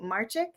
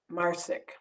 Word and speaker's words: Marcic: by The Fabulous Dorothy marchick who has actually wait I'm gonna hold because I can edit everything I want to make sure I'm saying your name right it rhymes with car sick marsick marsick okay yeah I mean